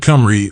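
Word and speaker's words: Cymry: moreover he notes that kimri or kimri a name the Welsh commonly go by is even today pronounced nearly as an Englishman would treat it if spelled comri or comri 17.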